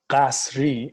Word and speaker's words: Ghasri: And Ghasri, or Ghasri, as it's pronounced in Farsi, means of castle.